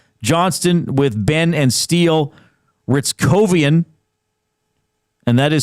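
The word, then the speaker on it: Hryckowian: Ritz Covian and that is spelled H R Y C K O W I A N. Ritz Kovian with Bach and Bourc.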